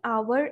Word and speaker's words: hour: i came here an hour ago i am sleeping for an hour not a r it should be an r because i need to focus on the sound too as h is silent here i need to be